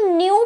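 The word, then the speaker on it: nu: इसको न्यू pronounce करते हैं। क्या? न्यू प्रोनाउंस करते हैं। एन यू न्यू।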